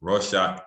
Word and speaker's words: Rorschach: rorschach inc block test rush inc block test raw shock ink block test raw shock ink block test try doing that three times